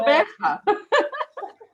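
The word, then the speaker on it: Gqeberha: Coberta. Say it again. Sorry, Coberta. Oh, you got to get the click. Oh, no. Coberta.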